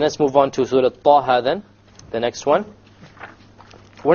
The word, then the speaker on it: Taha: Okay, both of them are two harakas long, so we pronounce it Taha, Taha. If we were to make it longer, it's a mistake.